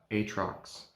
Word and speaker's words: Aatrox: jungle aatrox also any name i say today it's the correct way to say it i know back to it aatrox looking like an angry